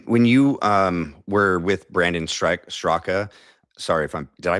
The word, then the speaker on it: Straka: When when you were with Brandon Straka, sorry if I'm Did I pronounce that right? Is it Straka?